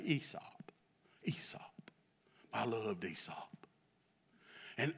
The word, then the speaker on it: Aesop: Now, it's spelled Aesop, but they say Aesop.